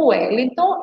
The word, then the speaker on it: Wellington: é inscrito ou W quando a gente pronuncia Wellington ele tem um som de u é mas temos também